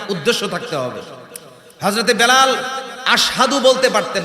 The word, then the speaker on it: আশহাদু: ওই যে পেরেক ঢুকাইছে, খুলছেন, এই জিব্বাটা ছোট হয়ে গেছে, উচ্চারণটা সঠিকভাবে হতো না। আসহাদু বলতেন, আশহাদু বলতে পারতেন না।